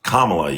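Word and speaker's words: Kamala: And so if you could get Trump out of office right now, you'd put Camala still. It's Kamla. You just heard me say it and you still mispronounce it.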